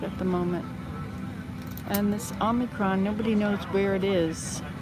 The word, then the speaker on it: omicron: face omicron that's right ah not oh oh omicron that's what i was told is the actual pronunciation anyway so i had to hold my